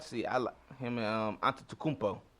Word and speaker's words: Antetokounmpo: But I'm gonna like to see him and Antetokounmpo. That's how you pronounce his name.